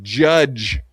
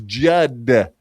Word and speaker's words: Judd: He keeps calling him Judge Grady, but it's Judd, like Judd Nelson. Judd, very cool name, Judd. I want to meet Judd Grady. He seems like you gotta say it like Judd. That's how they say it, Judd. Judd. You gotta really put an emphasis on the D.